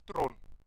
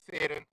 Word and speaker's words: Theron: That's why in South Africa um, when we refer to Charlize Theron, she's Tron, not Theron, Tron.